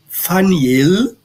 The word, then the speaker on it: Peniel: Então, Faniel, que é mais ou menos como se pronuncia em hebraico, significa face de Deus.